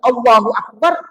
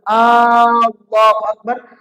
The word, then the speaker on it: Allahu Akbar: Misalnya ketika diucapkan Allahu Akbar, dipanjangkan awalnya, apa artinya itu? Allahu Akbar. Artinya, apakah Allah itu maha besar? Bertanya.